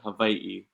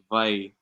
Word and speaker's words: Hawaii: So the V, or the W, is more like a V. So we say Hawaii, Hawaii.